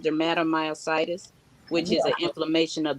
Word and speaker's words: dermatomyositis: wording up so tell them look how you pronounce it and exactly what your autoimmune mine's is called dermatomyositis which is an inflammation of the muscles so